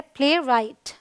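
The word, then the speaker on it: playwright: Rule number 2 कहता है अगर W के बाद R है तो W साइलेंट होता है।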